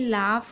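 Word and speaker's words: laugh: Word साथ में हो तो यहाँ पर यू साइलेंट रहता है। देखिए यहाँ पर आप देख रहे हैं दो वर्ड है, दोनों में लाफ और यहाँ पर कॉट, यहाँ पर देख रहे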